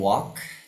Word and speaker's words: walk: Nah, ini yang walk tidak dibaca L-nya ya.